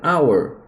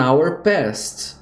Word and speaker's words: hour: coloco an antes então som de vogal antes de vogal é consoante mesmo tendo aqui uma consoante então fica an Honor não an hour an hour então uma hora passou an hour agora vamos para os